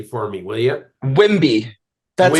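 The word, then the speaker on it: Wemby: Wimby. That's how I pronounce it.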